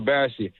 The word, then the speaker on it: Bassey: There you go, Bassey.